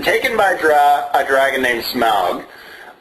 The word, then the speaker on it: Smaug: It's been taken by a dragon named Smaug. I honestly grew up pronouncing it Smog.